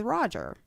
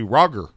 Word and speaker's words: Roger: But then again, it should be Roger because G should not make a just sound. Or you should spell it R-O-J-E-R. If it's followed by a vowel, man, it softens. Or maybe you could put a Y after it consonant. to make it a like rogier.